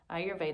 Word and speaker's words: Ayurveda: pronunciation of ayurveda so the way that i was taught was to think i your veda ayurveda as i mentioned before